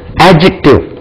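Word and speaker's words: adjective: உச்சரிக்கக்கூடாது எப்படி சார் இது அட்ஜெக்டிவ் நம்ம சொல்றது படிச்சதெல்லாம் அட்ஜெக்டிவ் அப்படின்னு சொல்லணும் அட்ஜெக்டிவ் டி உச்சரிக்கக்கூடாது இன் வேரியபிள் கிட்டத்தட்ட 98%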